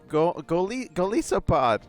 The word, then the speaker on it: Golisopod: Shark says it like Goliath. Oh, Goliath. Chip says go like gold and isopod.